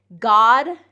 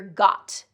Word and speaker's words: God: God and got. Very often what I hear is instead of God with a D sound, with a voiced D sound, I hear got with a voiceless T sound.